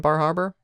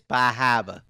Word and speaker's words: Bar Harbor: Um, so again, anyone vacationing in Bar Harbor, go eat pizza. You're saying it wrong. It's Bahava.